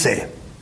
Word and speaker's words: Say: yo?, anglicizado, Jean-Baptiste Say, que algunos dicen Say como si fuera inglés y no es tal cosa. Exactamente. Jean-Baptiste Say.